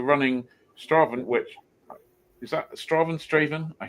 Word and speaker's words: Strathaven: Colin, you're famous, I should say, for featuring on Grand Designs and for running Strathaven, which is that Strathaven? How do you pronounce it? Strathaven is how it's pronounced around here.